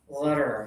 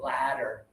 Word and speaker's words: letter: This one is teeth together, letter, okay? Put your teeth together when you say letter. Don't open too much because then you're going to say ladder.